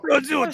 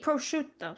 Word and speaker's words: prosciutto: Prosciutto. I don't know why you guys put a Z in it. There's no Z. Prosciutto.